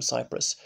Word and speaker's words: Cypress: a coffin fashioned from Cypress. And it's pronounced precisely like the island of Cyprus, and I wonder if Cypress trees originally come from there.